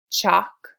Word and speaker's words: chalk: Remember that the L is silent.